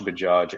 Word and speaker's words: Bajaj: See, And it's Bajaj. It's not hard to say. We just get scared. No, I get. It's not so bad. It's not so bad. Exactly. It's phonetically exactly like it looks.